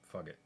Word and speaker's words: Fugit: I know it's Fugit, but Fugit. This is our show. Pronounce it how we want.